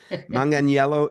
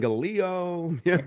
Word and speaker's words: Manganiello: I've heard all kinds of crazy things, but Manganiello is the correct pronunciation, and Yeah. we'll simply tell people Manganello. Try to keep that I before the E really gets them. I I've heard love it. Mangaleo, all kinds of different things.